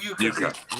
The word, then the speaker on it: Uecker: Bob, Kane, I can't even remember how this is pronounced. Bob Bob Uecker.